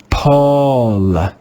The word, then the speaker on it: Paul: In this word, the digraph AU is pronounced with the rounded A sound. Let's read this word together. Paul, Paul, Paul.